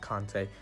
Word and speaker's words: Conte: I pronounce it Conte.